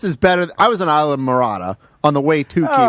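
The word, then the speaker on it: Islamorada: Isle of Oh, Marada. just that word? Okay. Well, how do you say it? Isla Morada. Isle of Marada? No, Isla. Isla. Isla Yeah. Marada.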